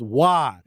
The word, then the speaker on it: Roy: at me and said, it's pronounced Wah. And I said, out of here. That's R-O and Y. And what came out of your mouth was W-A-H. And he said he's French, Canadian. He's French.